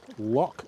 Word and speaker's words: loch: Easy way to pronounce loch is to say low, then clear your throat.